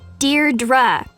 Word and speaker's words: Deirdre: or something hi Didi Deirdre I know it's got that tricky second syllable but I figured it out by age two don't give up you'll